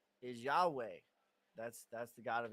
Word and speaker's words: Yahweh: or Jehovah right well if you just say it right what does it sound like it sounds like you're breathing like yeah you know what I mean like you're literally inhale exhale and so that's what it